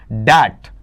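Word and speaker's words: debt: रहा हूं कौन सा दैट दैट ये डेप्ट नहीं होता क्या होता है दैट दैट रहता है और इसे हिंदी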